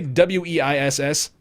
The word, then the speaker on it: Weiss: Ignacio0891, A1 Base, HD, how do you say W-E-I-S-S? Weiss, HD Weiss.